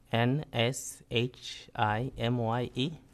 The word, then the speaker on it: Nshimye: N S H I M Y E. Okay, how do you pronounce it? Nshimye.